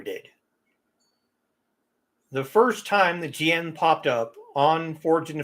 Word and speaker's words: jian: The biggest offender is the word jian when it's used. I've heard it pronounced Jin.